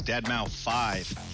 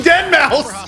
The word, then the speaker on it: deadmau5: a metaverse what on tour professionally known as deadmau5 yes that is the correct way to pronounce it tell your friends we're here to